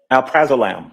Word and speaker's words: Alprazolam: right yes okay um Alprazolam am I pronouncing that right yes um one name or